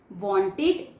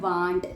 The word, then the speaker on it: want: want, wanted, wanted। कुछ बच्चे बोलते हैं want, तो बच्चों want गलत प्रोनाउंसिएशन है, क्या बोला जाता है? want।